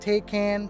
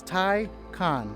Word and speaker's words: Taycan: car so it's not take can toucan taken it is thai khan the word tai and khan so now that that's